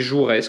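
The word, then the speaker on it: Joures: C'est écrit Jourès, comme ça se prononce. J-O-U-R-E-S.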